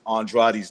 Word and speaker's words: Andrade: He's the only person that I know that pronounces Andrade's name the right way. It's Andrade. I pronounce it right too. I say Andrade.